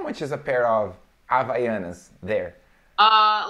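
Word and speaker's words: Havaianas: actually no we don't in the beginning of this of a word no it doesn't have a sound here for you it's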